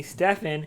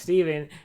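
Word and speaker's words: Stephen: with S, and also I also hate that everybody calls me Stefan when everybody knows it's pronounced Steven.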